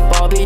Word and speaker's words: 6obby: You pronounce my name as Bobby. Don't confuse it with the six.